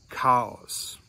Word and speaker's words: Chaos: best of my knowledge, are all pronounced with a hard K sound, just like the letter K, with a hard K sound. Here's some examples. For instance, we have character, chaos, chameleon.